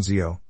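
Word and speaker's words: xèo: Ban Zio, Vietnamese crepe, the sizzling pancake. Ban Zio is often referred to as sizzling pancake because Zio is pronounced like the sizzling sound it makes when it is fried.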